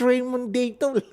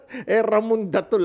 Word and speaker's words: Ramon Datol: Bakit Raymond Datol? Ramon Datol ako. They pronounce it in the A-E-I-O-U, yung gano'n Datol.